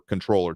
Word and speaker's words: comptroller: So comptroller.texas.gov is going to be, or controller, technically. I always put the P in there when I pronounce it.